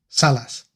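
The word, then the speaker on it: Sallaz: Salas.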